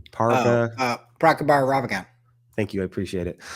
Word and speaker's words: Prabhakar Raghavan: Prabhakar Raghavan.